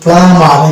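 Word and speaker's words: plumber: এই শব্দটা হচ্ছে প্লামার, এই যে প্লামার, এখানে কিন্তু বি সাইলেন্ট থাকবে শব্দের মধ্যে থাকা শব্দ।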